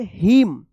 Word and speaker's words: hymn: HYMN, क्या पढ़ेंगे, हिम, हिम्न मत पढ़िएगा या हाइम्न मत पढ़िएगा, क्या पढ़ेंगे इसको, हिम्न पढ़ेंगे, यहां पे एन जो है ना साइलेंट रहेगा।